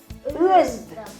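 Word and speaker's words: оьзда: Özda. Пишется Özda. Произнесем Özda. Özda. Özda.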